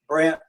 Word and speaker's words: Brandt: And today I've got Brandt with us. Am I pronouncing that right? Your last name. Yeah, Brandt.